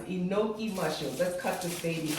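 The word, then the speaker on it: enoki: and place that on the smooth to the enoi mushroom that's how you pronounce it inoi mushrooms let's cut this baby open and you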